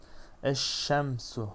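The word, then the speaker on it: الشمس: Eşşemsu. Şin şemsi bir harf olduğu için lam okunmadı ve şin şeddeli okundu.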